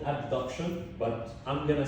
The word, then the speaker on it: abduction: which option abduction abduction I'm gonna pronounce it a b induction just for you to under or to be able to grab or to listen to the difference okay so it's called abduction but I'm gonna say